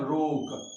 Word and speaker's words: ROC: इसको नाम दिया गया है रोक, ROC, इसका स्पेलिंग हुआ रोक।